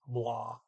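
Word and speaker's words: blå: they say is blah when an aw is in the middle of a word in the middle of a sentence you might not hear it as ah you may hear more like a short english o like in the word four okay um see here let's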